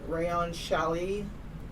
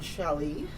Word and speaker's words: challis: or something super drapey like, let's see, rayon challis, tinsel twill, or silk noil.